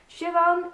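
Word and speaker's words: Siobhan: jennyan but also by Javan Vivian did I say that right because I didn't earlier and now I've learned people have told me how to pronounce a name Shivan Vivian yes anyway I picked this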